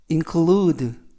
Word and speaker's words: include: 뜻이 되겠습니다 이번 표현은 include include 라고 발음하시면 되겠고요 이때 강세는 include의 강세가 있습니다 품사는 동사 뜻은 포함하다라는